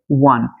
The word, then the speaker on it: won: ওয়ান। তোমরা এই ওয়ান উচ্চারণটি কিন্তু তোমরা ওন বলে থাকো, এটা ভুল।